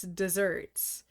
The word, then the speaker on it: deserts: It's spelled like deserts but it's desserts and it means excellence or worth if somebody's getting their just desserts.